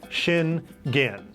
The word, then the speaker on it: Schengen: we landed on the schengen area first of all if you're traveling to europe you have to know about the shingen area and yes it is pronounced that way shin gin the area is not